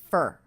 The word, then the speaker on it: for: notice how I pronounce the word for that was reduced to fer fer fer very quick with the schwa our sound fer fer for breakfast this morning for